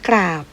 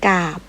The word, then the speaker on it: กราบ: เรือ ค่ะ เช่น กราฟ กราบ อ่าน ว่า กราบ กรอง อ่าน ว่า กรอง กรอบ อ่าน ว่า กรอบ นะ คะ เรา จะ ไม่ อ่าน กาพย์ ไม่ อ่าน กอง ไม่ อ่าน กอบ นะ คะ เวลา อ่าน ออก